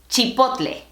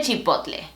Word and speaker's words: chipotle: La pronunciación correcta del chile es chipotle. Chile chipotle. La pronunciación correcta de la marca?